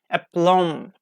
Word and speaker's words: aplomb: And some Latin words have also entered English, adopting this ending, like bomb, aplomb, and tom. So this silent b gives us one of the strangest like homographs in English.